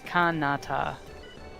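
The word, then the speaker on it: カナダ: wait, how do they pronounce it again? It's like Canada. Kanata? Oh. Yeah, It's Kanata.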